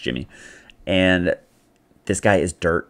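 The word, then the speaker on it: Yimmi: It's Y-I-M-M-I, but I think it's pronounced Jimmy.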